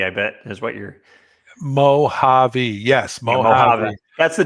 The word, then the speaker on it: Mojave: I mispronounced Tina's Mojave. It's Mojave, I bet, is what you're. Mojave.